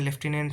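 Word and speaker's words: lieutenant: है अब देख लीजिए लेफ्टिनेंट का स्पेलिंग क्या होता है एल आई ई यू टी ई एन ए एन टी लेफ्टिनेंट होता है लेफ्टिनेंट में एफ नहीं होता लेकिन हिंदी में जो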